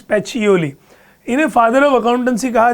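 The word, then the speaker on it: Pacioli: Okay, the pronunciation is पेचियोली।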